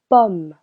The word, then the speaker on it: pomme: Letter O sounds O. Unless it is placed before two consonants. It will sound. Oh. Une pomme.